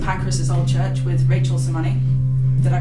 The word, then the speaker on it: Sermanni: here in St Pan's old church with Rachel soney did I pronounce that way yes cool um first of